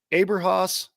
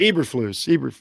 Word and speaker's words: Eberflus: I want to say is it Aberhaus? Am I saying that right? I hate to get a guy's name wrong. I think it's Eberflus or something like that. Eberflus. Yes.